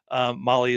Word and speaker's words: Mahle: And for all the folks that are listening to this, Molly is spelled Mahle.